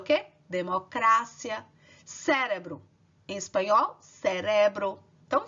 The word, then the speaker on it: democracia: polícia democracia em espanhol vai ser o quê democrácia cérebro em espanhol cérebro não vejo a sílaba tônica onde você vai colocar mais força